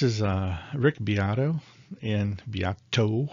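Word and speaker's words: Beato: uh rick biatto and biato with the t i didn't mean to say that wrong it sounded like a d i said biato viato i just didn't say it correctly so anyways i've been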